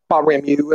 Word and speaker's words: Baramu: Is it you or ooh? Baramu. That's how we pronounce it.